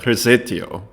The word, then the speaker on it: Rosettio: anyways shout out to recetio and here is the pronunciation right okay so now that that's cleared up rosettio from Indonesian how to pronounce my name or just call me like your uncle uh Igor sent me